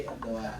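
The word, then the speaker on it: Erdoğan: Tapi intinya cara bacanya itu bukan Aran tapi Erdoan.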